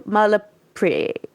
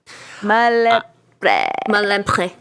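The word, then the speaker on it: Malempré: And then Philippe Malapre. Malempre.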